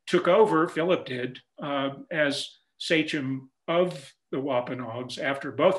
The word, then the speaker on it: sachem: Many of you who know, have your Mayflower history down, know that he was the sachem, that's how it's pronounced, of the Wampanoag tribe.